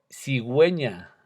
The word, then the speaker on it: cigüeña: Cigüeña y pedigüeña son ejemplos.